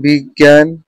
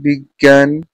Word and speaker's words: বিজ্ঞান: উচ্চারণ ন এর মত হয় কিন্তু এখানে এখানে উচ্চারণ হবে গ সংযুক্ত বর্ণটি গ এর মত যেমন বিজ্ঞান অজ্ঞ গটি তত হবে গটি কি হবে দুইবার